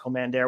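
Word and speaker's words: Kommander: out and said that he wants his name to be pronounced Commander, which is interesting because he made it clear on the ROH commentary.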